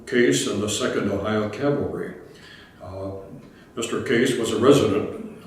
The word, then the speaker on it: cavalry: oh by the way I think the word cavalry must be that was mispronounced word in the whole English language so many times it comes up Calvary which I like my tongue to keep from correcting people and on November I